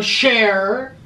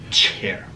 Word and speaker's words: chair: in english mister i sit on a share it's pronounced chair oh can we share